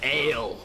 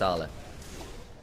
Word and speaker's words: Ale: A man who might in one other world be called Ale looks to get some damage down his forces away from his turret. It's pronounced Arla.